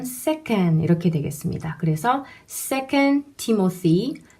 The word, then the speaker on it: Timothy: 자의 d 모드에 이름의 영어 이름은 요 티모 쓰이 입니다 티 머 스 2 티 머 스 2 th 발음이 나오고 이렇게 팀 어스 2